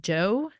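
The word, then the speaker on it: Djo: have been listening to I think you pronounce it Joe DJ o is the guy Steve from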